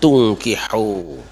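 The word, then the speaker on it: تُنكِحوا: Pada ayat ini ada dua kata yang hurufnya sama tetapi cara membacanya berbeda, yaitu tangkihu dan tungkihu. Yang satu wazannya fa'ala yaf'ilu, yang kedua wazannya af'ala yuf'ilu. Di situ beda.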